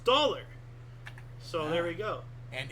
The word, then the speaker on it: Daler: Talar, Low German Daler, Dutch Riksdaler or Daler pronounced dollar.